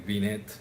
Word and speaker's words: Binet: Y justamente, antes de seguir con Galton y Terman y Binet, Binet es un francés, no se pronuncia la T, pero bueno, estamos aquí, sé que vamos a pronunciarla, Binet, pero Binet es,